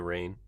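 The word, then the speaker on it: Raine: say her last name I think it's Lana rain it looks like rain with an e mm-hmm which is confusing because in that or just rain but anyways yeah so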